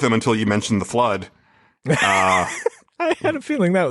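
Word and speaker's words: FLUDD: Also, he made Flood, which is spelled F-L-U-D-D.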